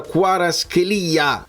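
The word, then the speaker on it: Kvaratskhelia: nel locale dove lavoro Mi hanno detto che si pronuncia quaras Chelia con l'accento sulla i e stanno briag i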